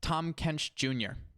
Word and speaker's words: TANM KVSB JR: here that you see, the TANM KVSB JR, that is pronounced Tom Kench Jr. So there we go. Yeah. Just like it reads.